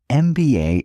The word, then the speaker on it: MBA: An MBA degree MBA is pronounced MBA starting with the vowel sound e.